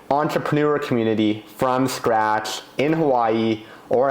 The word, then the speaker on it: Hawaii: community from scratch in Hawaii, or as the locals pronounce it the correct way, Hawaii.